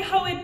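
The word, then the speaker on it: Hoid: I say Hoed because he originally appeared in Elantris, and I pronounced all of those words as two syllables.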